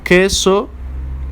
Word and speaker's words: queso: which means I want queso quiero ok the U is silent as we saw with